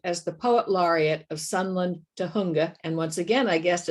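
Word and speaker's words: Sunland-Tujunga: 2003 she served as the poet laureate of sunland to hunga and once again i guessed at that pronunciation you got it right aha okay there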